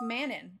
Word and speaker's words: Manon: question for you so I call it Manan because that's how they pronounced it in the audio book for those of you